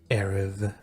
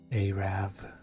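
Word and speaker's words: Arrav: Let's go to Varrock so we can do Shield of Erev. Arav. Arav. Shield of Arav. I wonder what's like the worst way you could pronounce that word.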